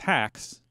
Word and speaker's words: Hux: an italian too and italian hux is pronounced hacks to begin with so the